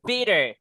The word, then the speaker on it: bitter: Kita enggak boleh bilang bter. Kayak apa nih, Guys? Pak, omongannya dia tetangga kayak kehidupan. Aduh, guys. Oke. It's a bitter.